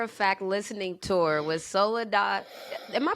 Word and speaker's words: Soledad: fact listening tour was soledad am i pronouncing that right soledad yeah soledad solida anything yeah you know people it's really well it's spanish so it's my full name